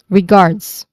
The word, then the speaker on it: regards: There's a buzzing sound here, although not really that clear, but there's there's a buzzing sound. Guards. Guards. Regards.